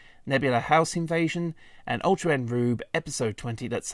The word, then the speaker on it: R/B: um episode 19, Nebula House Invasion, and Ultra Rube episode 20. That's how you pronounce it.